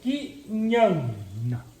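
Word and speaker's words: ज्ञान: Esse traço em cima do primeiro A significa que isso é essa sílaba atômica. E esse segundo A é quase mudo. Então é Kinhana.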